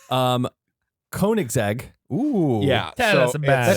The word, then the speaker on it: Koenigsegg: Koenigsegg.